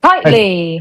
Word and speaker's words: Kiteley: How do you say Tom surname again? Is it Kiteley? Kiteley. Kylie. But I've been calling him Kitly ever since I met him.